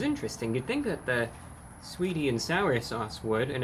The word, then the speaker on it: Saweetie: The A is silent. Sweetie and sour sauce.